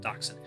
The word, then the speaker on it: dachshund: Dodge short dachshund dachshund yeah that's how you pronounce it dachshund I sure dachshund would Loot on his back